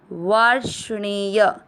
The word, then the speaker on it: वार्ष्णेय: से षटकोण वाला दुष्टासु, वा के बाद में पहले आधा र पढ़ा जाएगा वार, फिर आधा श वाश। ध्यान से इस शब्द को समझेंगे, वाश, ण पे ए की मात्रा अणे और य में आ मिक्स करेंगे य, वार्ष्णेय।